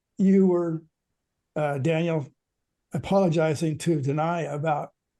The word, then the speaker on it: Danay: Sheila's end to say, like, rhymes with pie. My name rhymes with pie.